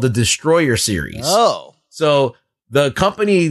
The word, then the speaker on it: Destoroyah: Well, the film still, like, even the Japanese say it as Destroyer. Oh, Destroyer. They spell it Destoroyah.